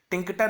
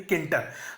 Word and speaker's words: Tkinter: Import किंटर, टिंकटर नहीं, किंटर बोलिए, pronunciation इसको ठीक करिए, किंटर।